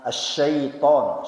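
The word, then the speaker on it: الشيطان: Jadi perpindahan hamzah dengan ain, kemudian sinnya asyaiton, setan, ya. Jangan as-saiton.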